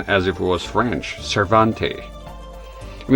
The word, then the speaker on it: Cervantes: No, that that much was clear, but the way the guy pronounces his last name here be as if he's speaking French. Cervante. I you know that's the impression I get here. Those are very important matters. I've been saying Cervantes.